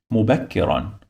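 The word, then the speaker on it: مُبَكِّرًا: You must add the sound of noon after, like this. Run. Mubakkiran.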